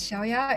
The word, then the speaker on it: Xiaoya: everyone my name is xiaoya and Anna you have pronounced it perfectly but I think everyone you can also call me because I know xiaoya is a bit difficult to pronounce So currently I'm a